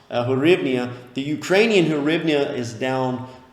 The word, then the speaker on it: hryvnia: I looked that up before this video, how to pronounce hryvnia.